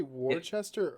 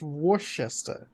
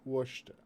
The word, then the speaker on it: Worcester: the next nine years did did you say War Chester or did you mean Worcester it's Worcester Worcester Washington we all have different accents I'm American